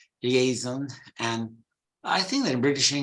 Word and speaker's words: liaison: So in British English, it's liaison. While in American English, they follow more the French pronunciation.